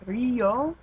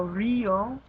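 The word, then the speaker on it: río: Um, so like words like Rio or dia, the reason the I is emphasized and strong is because it has the accent mark.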